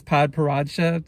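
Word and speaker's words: Padparadscha: pronounce it okay so a video I watched pronounced it as pod paracha so I'm just gonna say it like that so anyways Paparazzi is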